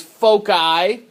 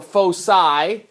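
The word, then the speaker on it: foci: Plural for focus points is folky or fosai, depending on which area of the world you come from or whatever. It's pronounced two different ways.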